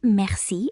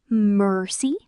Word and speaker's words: merci: So, rather than saying merci you should say merci. Merci. You're really emphasizing the second syllable. Merci. So, merci means thank you. Merci. Merci.